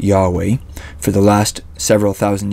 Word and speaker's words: Yahweh: yod he VAV he most scholars believe God's name was originally pronounced Yahweh for the last several